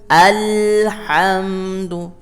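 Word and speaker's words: الحمد: Kemudian kata alnya sendiri, al mengalir bunyinya. Alhamdu ya, mengalir bunyinya.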